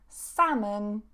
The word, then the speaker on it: salmon: bit more information on those and how to pronounce them, take a look at the live lesson from yesterday. Salmon, salmon.